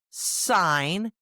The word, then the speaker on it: sign: common ones, like in the words night, Knight, sign, Sign, and half, Half. We'll learn what makes them silent, how to pronounce them correctly, and even have some fun with practice sentences.